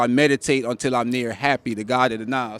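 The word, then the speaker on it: Hapi: Because when you hear me say it, I meditate until I'm near happy, because meditation calms you down. But when you read it in here, it's spelled happy, H-A-P-I. That's the God of the Nile.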